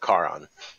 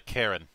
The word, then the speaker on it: Caron: dreamer elvin vessel of caron just make sure not to mispronounce it in call and call it a karen yeah that was forced